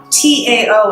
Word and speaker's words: Tao: T-A-O in English, pronounced D, like a D, Tao.